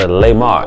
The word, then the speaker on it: Lemar: The L stands for Lemar, L-E-M-A-R, Gilty. No be fooled, it's not G-U. I was born guilty, but it's spelled with a G-I-L-T-Y.